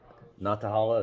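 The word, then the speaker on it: Nantahala: By the way, he came up to me at Natahala. Is that the right pronunciation?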